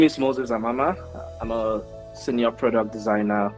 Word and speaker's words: Amama: Did I pronounce that well? Yeah, you did. I did. Amama.